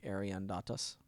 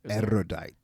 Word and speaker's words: erudite: And that word that you said in the beginning, Ariandatus. Right? Erudite.